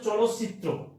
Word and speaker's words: চলচ্চিত্র: তাহলে উচ্চারণটা হচ্ছে চলচ্চিত্র, খেয়াল করতে হবে, চলচ্চিত্র।